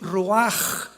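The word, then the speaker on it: רוח: La palabra para espíritu en el hebreo es la palabra que es roaj, que se escribe ru con ch, pero repito, ese pronuncio pronuncia como J.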